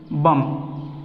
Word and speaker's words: bomb: जैसे कि बम, atom बम, बहुत सारे बम है, बम, BOMB, B साइलेंट हो गया, यानी जहाँ पे भी MB आता हो किसी भी वर्ड के अंत में, तो B की आवाज़ को हम लोगों को नहीं निकलना है, तो इसको क्या बोलना है?